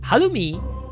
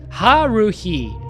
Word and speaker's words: Haruhi: Halumi. No, not Halumi. Haruhi. Haruhi. If I pronounce it in English, Haruhi. It's It's a It's a hard word to pronounce even in Japanese, you know. Haluhi. I mean, usually my Japanese R I pronounce them like a L, closer to a L.